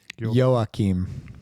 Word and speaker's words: Joachim: of the hour here Yokum or jum Nicola it's it's spelled j o a c h i m it's uh yoim yo that's sweet there we